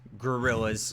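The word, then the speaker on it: Guerrillas: Not spelled with an O. It's not like the monkey. It's Gorillas.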